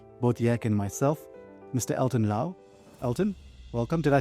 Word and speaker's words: Elton Lau: Elton Laauo.